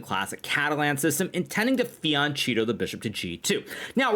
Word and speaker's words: fianchetto: Now, of course, like any normal person, I do speak some Italiano, and I know that, of course, it's pronounced fianchetto.